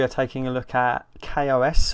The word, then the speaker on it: KaOS: taking a look at Kos or chaos I think it's pronounced Kos gnosis the first time